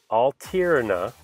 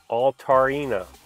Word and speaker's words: Altaria: I have this phonetically spelled out. Mega Altaria. No, Altaria.